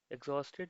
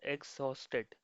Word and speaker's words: exhausted: Exhausted means extremely tired or drained out of energy. How do we pronounce this word? Uh, it's called exhausted. Okay, so there's that emphasis on host, exhausted.